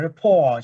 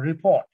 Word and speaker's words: rapport: Từ rapport ở đây cái phụ âm cuối nó bị câm. Nhưng bạn phải đọc là rapport chứ không phải đọc là report.